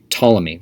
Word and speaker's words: Ptolemy: generals one of them ptolemy we're going to be reading about him spelled with a p before the t which makes things exciting he set up a